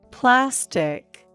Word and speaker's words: plastic: listen to this example for the word plastic there are two syllables and the first syllable is stressed plastic not notice that dictionary